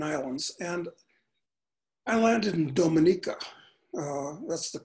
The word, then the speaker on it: Dominica: Anyway, I was going through a bunch of these Caribbean islands and I landed in Dominica. That's the correct pronunciation. A lot of people say Dominica, but that's not the way it's said.